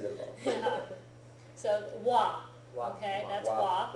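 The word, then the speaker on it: は: So you write ha, but it's pronounced wa. Yeah, but only when it's being used as a grammar structure, Okay.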